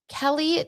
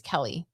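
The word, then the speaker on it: Keleigh: I think it's Kelly. It's spelled like Kaylee, but I think it's Kelly.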